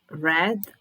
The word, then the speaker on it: read: So it's the same, but when it is in past, we pronounce it like the color red. Like this. I read. It's red. I read a book in bed.